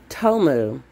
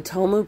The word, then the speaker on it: Tomu: Tomu, T-O-M-U is the way you spell that.